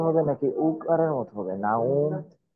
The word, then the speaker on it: نوم: সময় ওয়াও এর উচ্চারণটা উ এর মতো হয়, দীর্ঘ উ। না, উ, ও না, নাউম এরকম।